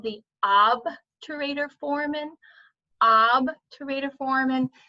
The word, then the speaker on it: obturator: called the obturator foramen ab to radio form and now be careful some people try to put an r in there and call it the orb terrain or foramen there's no r it's obvious and the